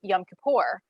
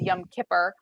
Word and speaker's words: Yom Kippur: that is referenced is yom kippur which she pronounced as young kipper um yom kippur is